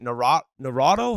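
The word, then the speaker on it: Naurato: with the Michigan coach uh Brandon is it narado how do you say it g yeah that's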